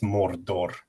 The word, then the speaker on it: Mordor: Just the word Mordor, and it's Mordor if you're pronouncing it correctly.